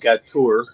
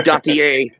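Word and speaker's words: Gautier: as compiled by historian Leon gatur probably butchering that pronunciation nobody cares Gotti it's Gotti a it's Gotti a thank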